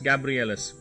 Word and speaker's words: Gabrielus: I also had trouble pronouncing when I first mentioned his name. No, not much. It's Gabrielus. Nothing fancy.